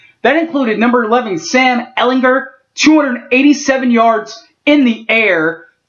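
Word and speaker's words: Ehlinger: my hat off to sam ellinger heart hit that hard g big boy you deserve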